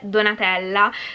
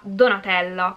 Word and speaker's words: Donatella: Per esempio, il mio nome, Donatella, letto da un ungherese risulterà Donatello. Questo perché la O non accentata per loro è aperta, mentre la A non accentata si legge O.